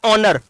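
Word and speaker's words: honour: क्योंकि H silent रहता है। एच क्या रहता है? साइलेंट रहता है। तो इसको बोलोगे तो क्या बोलोगे? आर। ठीक है? अब यहां पे हॉर्स जैसे मैंने लिखा ऑनर।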